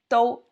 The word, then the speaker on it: 都: The pronunciation, first tone, do. So let's see the definition.